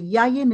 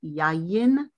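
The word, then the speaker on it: יין: that i assume the yayan and mayim i need to pronounce the yods yayin and mayim i cannot read this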